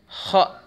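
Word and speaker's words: خ: Cara membacanya, ya. Tenggorokan bagian atas itu disempitkan, kemudian didorong dengan dorongan nafas.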